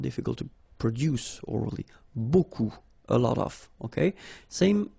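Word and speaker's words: beaucoup: you want to use Buu Buu means a lot of it look it looks a bit strange B like that remember you don't pronounce the final P okay and then you've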